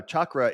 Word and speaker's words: chakra: Now chakra, and it's actually like chalkboard. So CH it's like a chalk. Sorry. It's not SH.